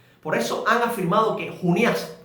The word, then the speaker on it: Junías: Por eso han afirmado que Junías, con acento en la A, era una forma abreviada de Junianos.